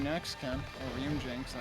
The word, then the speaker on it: Ryujinx: Ryujin next, Ken. Or Ryujinx. I always forget that the X isn't pronounced it.